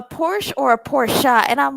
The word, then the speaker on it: Porsche: And then Shmeia was like, "A Porsche or a Porsche?" And I'm like, "Shamia, girl." Well, you know, Porsches, Porsches are pronounced Porsch as a Porsche owner, they're actually pronounced, you pronounce the E, the A as a